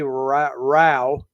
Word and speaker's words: Rao: Rao. Rhymes with cow.